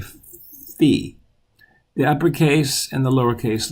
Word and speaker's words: phi: You may have heard this pronounced phi, but in Greek we say phi.